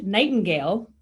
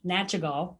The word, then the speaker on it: Nachtigall: you i promise you you've been saying his last name wrong the whole time so we'll tell you how to say it right uh mitch nightingale um also known as mitch nachagall or not to gal or not or any of the other ways that we've said it wrong yeah so that's